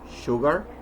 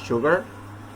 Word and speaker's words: sugar: Then leave the teeth slightly apart to pronounce words as she, sugar, shoe, shadow. Some words, though, are written with an S and pronounced with SH, as sugar, sure, while other words that